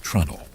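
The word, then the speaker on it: treenail: You might spell it as t r e e n a i l, but shipwrites pronounce it like trundle.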